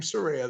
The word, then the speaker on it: Saraya: her Paige but well she her actual name Saraya though I know it's saranite I know I